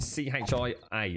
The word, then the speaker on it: chia: C-H-I-A, and it's pronounced chia.